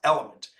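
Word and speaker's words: LMNT: called element and it's l LMN but it's pronounced element and it's basically your electrolytes um so it's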